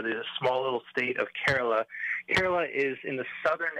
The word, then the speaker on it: Kerala: on in the Indian state of is it pronounced Kerala yeah very close Kerala Kerala okay good to know Danny tell us